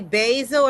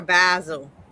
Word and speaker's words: basil: Do you say basil or basil? Basil. I say Okay. Because I know some I know can kind of UK British UK and uh I know some the British say basil.